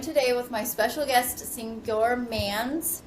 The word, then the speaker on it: Senghor Manns: I'm joined today with my special guest, Senghor Mans. Senghor, is that how you pronounce it? That is Okay, correct. Senghor Mans, the president and CEO of Lucas Metropolitan Housing Agency in Ohio.